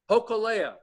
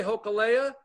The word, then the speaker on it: Hōkūle'a: Hōkūle'a. Spell that for me. Holoke'au. But it'll come up. If you say Hōkūle'a, it'll come up.